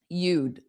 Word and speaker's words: you'd: Notice you, the sound continues a little bit more, and you'd, when I add the D, which represents the contraction of you would, you'd, the sound closes because